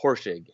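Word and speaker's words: Horschig: want to mess it up really tough it's horsing yeah I was like I was looking at that adding syllables and stuff horse horse horse shake we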